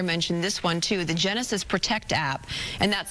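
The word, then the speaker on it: Genasys: LA County Fire mentioned this one too the Genesis protect app and that's spelled g n a s y s protect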